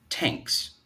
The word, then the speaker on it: thanks: general American English dialect the word thanks is pronounced as tanks and this is another phonetic feature that is unique to the Midwest dialect group hi my name is